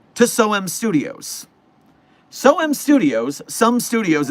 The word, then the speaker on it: SOM Studios: SOM Studios, some studios is actually how you say it, but I keep saying SOM because that's the way it's spelled.